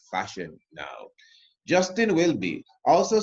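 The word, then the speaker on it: Welby: The Guardian The Guardian comm UK and Justin will be that's how you pronounce it is the most very reverent Justin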